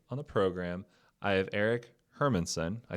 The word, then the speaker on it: Erik Hermansen: So today on the program, I have Erik Hermansen.